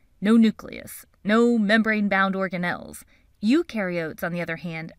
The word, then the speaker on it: eukaryote: Eukaryotes, on the other hand, remember eu rhymes with do, and they do have a nucleus, and other membrane-bound organelles.